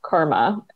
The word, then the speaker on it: karma: sunday with almost no context but it's actually pronounced karma so it's a hindu word it's a it's